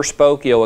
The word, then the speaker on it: Spokeo: And she said between my People Smart account and her Spokeo account, she's getting 70 to 80% of the phone numbers of expireds that she's pulling off HAR. Spell that again. It's like Spoke, S-P-O-K-E-O. Spokeo.